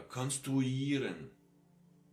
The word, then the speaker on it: konstruieren: Oder konstruieren. All these ieren words, which are more international origin, get this uieren sound, a long one.